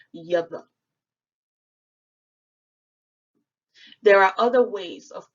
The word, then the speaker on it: Yahweh: We all know that Yud He Vav He is the Masoretic spelling of the name of the Most High, and it is directly pronounced Yahweh.